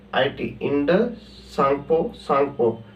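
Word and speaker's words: Tsangpo: है IT Indus सांगपो सांगपो य पर टी साइलेंट है ना सांगपो इ इंडस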